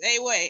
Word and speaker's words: Ewe: It's Ewe, E-W-E. I thought the W was pronounced like a V, no? Oh, my bad.